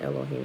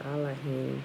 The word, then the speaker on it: Elohim: over actually i'm putting elohim it should be i like him that's a pronunciation the proper pronunciation of it because there's no ease in the hebrew language right let me fix